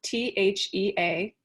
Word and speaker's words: Thea: My name is pronounced, or it's spelled T-H-E-A, but it's pronounced Thea.